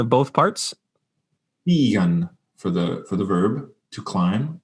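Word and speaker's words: stīgan: More like a steeg for that first component. To climb was an Old English verb that's since dropped out. Will you give us a pronunciation of both parts? Stigen for the verb to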